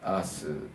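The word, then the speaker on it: Hers: アース監督ですねミカエルアースのアースは he - RS と書いてアッシュ H はフランス語では無音なんでねアースということになるんですけど気になる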